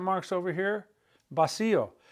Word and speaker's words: vacío: Vacío. That accent mark on the I of vacío is because it's breaking up the diphthong.